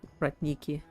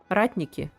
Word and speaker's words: Ratniki: Not Rat Nikki. Ratniki. Sorry. Sorry. It's okay. I know it's direction. Ah, okay. But it's pronounced Ratniki.